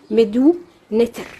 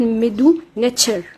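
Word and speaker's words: مدو نتر: الكتابة الهيروغليفية باسمها المصري القديم اسمها ميدو نتر، أو بالنطق الصح ميدو نتشر. لازم في النطق المصري يعني زي بنعطش التي.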